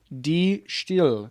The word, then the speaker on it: De Stijl: the name of this so it is pronounced this is the white stripes second album d still it's dutch yeah and it is called